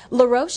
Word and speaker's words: La Roche: nominees in this category are aveeno eye serum la roche is that how you pronounce it yes laroche okay avon eye treatment